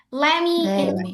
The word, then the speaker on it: let me: Let me infuse myself. Kak enggak enggak I would like to introduce myself ya. Terus kalau yang ini let me jadi langsung t-nya enggak dibaca enggak usah dibaca gitu ya.